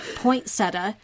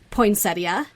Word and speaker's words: poinsettia: I grew up pronouncing it poinsetta. There's a T in there that doesn't exist and an I that should. I heard other people saying poinsettia.